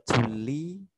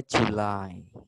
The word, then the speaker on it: July: Ya, Juli bacanya bukan Juli tapi July.